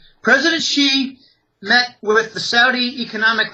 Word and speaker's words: Xi: President Xi, it's pronounced sh ei. President Xi met with the Saudi